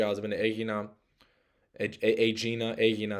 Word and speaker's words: Aegina: I've been to Aegina, Aegina is how they say it in Greece, Hydra, Hydra, and I've been to Poros, which is like an island by Athens.